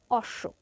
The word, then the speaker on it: অশ্ব: এর উচ্চারণ হবে পক্ষ অনুরূপভাবে অশ্ব এখানে শেষ বর্ণ হচ্ছে স এর সঙ্গে ব যুক্ত আছে তাই স এর দ্বিতীয় উচ্চারণ হবে অশ্ব এরপর আছে বিল্ল বিল্ল